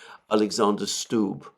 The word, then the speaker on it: Alexander Stubb: president of Finland, Alexander, I believe his name is pronounced Alexander Stubb.